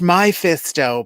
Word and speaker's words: Mephisto: And I was like, it's pronounced my fisto, but why does Slow-Mo call this girl Fisty?